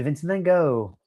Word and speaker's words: Vincent van Gogh: Or Vincent van Gogh. Or as the Americans say, Vincent van Gogh.